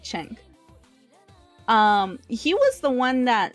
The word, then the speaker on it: Cenk: Now, as mentioned in this article, Cenk Uygur, I can't ever pronounce his name right because it's spelled as CNK, so I want to say Senk, but I know it's like Cenk.